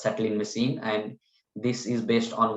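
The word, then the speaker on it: Tsetlin machine: this is called a settling machine even though there is a t in the starting it's pronounced as settling machine and this is based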